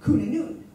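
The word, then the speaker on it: Cŵn Annwn: the wild Hunt which I deal with is kuna noon which is c-w-n-a-n-n-w-n new the the spelling it's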